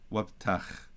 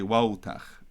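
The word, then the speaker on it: ܘܦܬܚ: but it's a boy, wabtach yosi. Notice I don't soften the pe. Pe gets softened specific to words. You wouldn't say wautach, it's wabtach.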